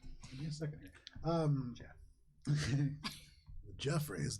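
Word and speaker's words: Goff: Jeff.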